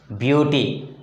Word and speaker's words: beauty: For example, beauty. Beauty. The stress is on the first syllable.